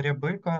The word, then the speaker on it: Рябика: Мене звати Рябика, наголос на другий склад в моєму прізвищі.